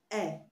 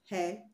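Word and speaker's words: heir: H-E-I-R is pronounced eh, eh to the throne, and not her to the throne. So the H in eh is not pronounced, it is silent.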